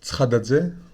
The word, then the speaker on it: Tskhadadze: ça se prononce Tskradadze, mais il n'y a pas de monde qui arrive à prononcer.